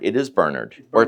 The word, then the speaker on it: Bernard: to correct people so CJ so it's not Bernard it is Bernard or pronounced ber I like that ex yeah okay